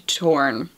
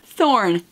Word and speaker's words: Thorn: promised in marriage to torn to torn thorn that's how you pronounced that word a taciturn an influential